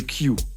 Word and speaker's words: Q: Alors on l'appelle le Q. Alors prononcez-le à l'anglaise, parce qu'on parle quand même de Q large, Q étroit, petit ou gros Q. Vous comprenez pourquoi il faut prononcer comme ça.